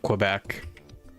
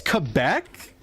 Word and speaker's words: Quebec: I feel like you're not supposed to pronounce it like a Q. Quebec. Yeah, it's Quebec.